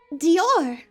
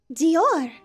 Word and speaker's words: Dior: up our next one is pronounced Dior Dior it's pronounced weird because it's French Dr yes Dior Elder